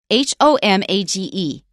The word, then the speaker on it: homage: For example, how do you say h o m a g e?